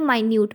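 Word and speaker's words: minute: एंड इसमें आप same spelling में आप प्रोनाउंस करते हो माइन्यूट।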